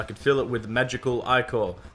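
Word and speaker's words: Ichor: fill it with magical i call that's pronounced i called i know i pronounced it right choose your i call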